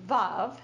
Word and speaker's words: Veuve: And the way I always used to say Veuve Clicquot, but it's really Veuve, and it rhymes with love.